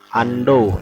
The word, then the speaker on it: Undo: nah yang pertama ada yang namanya Ando yang dibacanya Ando tulisannya Ondo dibacanya Ando ya fungsinya membatalkan perintah sebelumnya